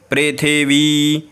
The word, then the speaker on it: पृथिवी: नहीं होगा महिद महिद पृथ्वी देखिए थ पर ऐसे वाला है यानी कि ह्रस्व है और व पर ऐसे है यानी कि दीर्घ है तो उच्चारण भी उसी प्रकार से आपको करना है इस बात का ध्यान